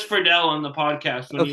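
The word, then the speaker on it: Friedle: So, I had uh in my brainstorming tank, I had Will Will uh is it Fredell? Yes. Oh, I always pronounced it Fredel. He says Fredell on the podcast when he introduces himself.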